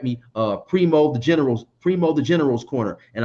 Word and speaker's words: Preemo: Primo the General's Corner, and I believe the spelling on that is PREEMO THE, then General, GENERAL. Primo the General's Corner, right? No, it's Primo, PREMO. Oh, okay. Primo's, PREMO THA, General's Corner.